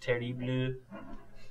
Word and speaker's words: Terrible: for this the uh I think it's pronounced ter blue if I if my um sophomore year high school uh French class taught me anything but we'll just call